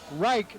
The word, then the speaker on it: Reich: mispronounced Jared's last name I heard the PA call it Reich not wreck looks like its